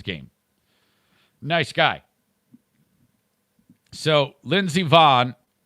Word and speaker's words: Vonn: So Lindsey Vonn, is it Vonn or Vaughn? I think it's Vaughn, but it's spelled Von.